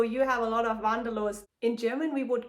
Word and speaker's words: Wanderlust: This word, Wanderlust, is pronounced in German Wanderlust, and it means the desire to travel.